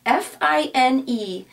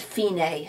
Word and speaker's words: fine: the word FINA is fi n e in Italian is pronounced fini I know in English